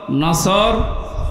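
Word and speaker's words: نصر: নাসর মানে ইগল পাখি এজন্য তেলাওয়াত যখন করবেন উচ্চারণটা মুখ গোল করা লাগে আল্লাহ পাক জানিয়েছেন যখন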